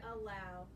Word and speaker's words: allow: Tap that, or clap the word allow. Allow. We start with that schwa because the A is by itself in its syllable.